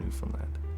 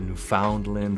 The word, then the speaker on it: Newfoundland: about New Finland cool first of all we say New Finland Newland you know you'll hear every type of pronunciation Under the Sun basically just to simplify it for you the way we say it is New Finland New Finland and Labrador if there's any accent